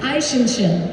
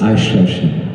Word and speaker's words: Eichhörnchen: Aishinshin. How do you spell it? See, now I've asked her the real question. Eichhoermchen. Aishinshin.